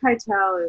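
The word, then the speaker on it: Keitel: jay is amazing just quietly how do you pronounce his last name kettle kate cartel i believe i tell you yeah jay kytel is uh i mean what a he's probably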